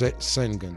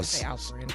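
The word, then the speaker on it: Şengün: is and I don't want to pronounce his name wrong. It's Sengun. Sengun. Uh Sengun cuz I don't Sengun Sengun.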